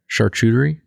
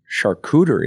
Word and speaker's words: charcuterie: to address this now say that word again charcuterie charcuterie is how I pronounce it I don't know well I don't know you've been in the business your whole life I imagine you're probably right no don't trust my pronunciation okay all right I think it's true you might be saying the real way I'm just saying I'm just using like the American lingo for it okay go ahead um